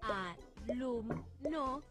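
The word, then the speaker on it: alumno: más fuerte por ejemplo si digo a lum no lo que tenemos que pronunciar con más fuerza de las tres es lum fíjense alum no la sílaba que pronunciamos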